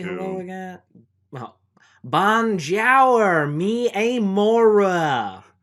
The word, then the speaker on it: bonjour: a french guy yeah you have to also pronounce it in the appropriate tongue how do you say hello again well bon jour me amora it's bonjour it's bonjour all